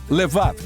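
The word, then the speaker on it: לבב: Quem hebraico se pronuncia levad ou na sua forma curta leve.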